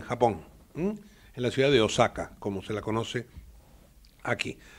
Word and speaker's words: Osaka: Alguna vez estuve por allí y aprendí de un japonés a pronunciar el nombre de la ciudad, que está acentuada como una palabra esdrújula en castellano.